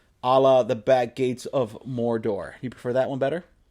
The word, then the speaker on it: Mordor: it's pronounced but yeah Mordor it'll be a lot like that I like pronouncing it Mordor because in the rings of power they were like really rolling the r okay Mordor because I